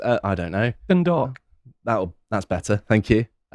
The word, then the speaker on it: Dundalk: But first going to Dundalk, I think it's pronounced. I don't know. Dundalk.